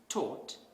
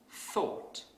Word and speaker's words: thought: So a non-native speaker might pronounce this word as taught instead of thought.